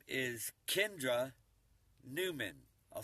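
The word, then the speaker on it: Nauman: Her name is Kendra Newman. I'll spell it out. K-E-N. D-R-A, N-A-U-M-A-N, that's her last name, Newman, N-A-U-M-A-N, and she does this for a living,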